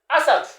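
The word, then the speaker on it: أسد: Donc Assad, ça c'est ça s'écrit Assadoun. Assadoun. Mais ça se lit, ? Assad.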